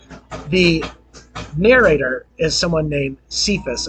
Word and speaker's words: Cephas: But the narrator is someone named Cephas, or Kephas would be the pronunciation of the Greek. But his friends would call him Cephas, and that was a